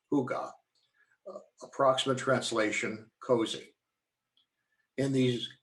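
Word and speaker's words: hygge: they actually do have a concept called huga h-y-g-g-e pronounced hygga approximate translation cozy in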